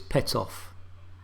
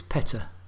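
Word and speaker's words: Pettaugh: and to be honest i've always called this pet off but no it's peta and there's a whole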